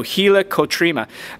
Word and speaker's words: helicotrema: One of my favorite structures is something we call the helicotrema. I know that some people will be like, hey, that's not how you pronounce it. I pronounce it how I spell it. So helicotrema, this is like the